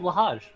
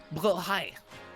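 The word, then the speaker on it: Blåhaj: uh the blah actually what about lehaj it's actually pronounced well hi yeah that's swedish for you it's pronounceable hi do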